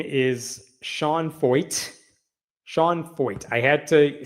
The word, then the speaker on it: Feucht: Sean Feucht, F-E-U-C-H-T. It's pronounced Feucht, rhymes with exploit.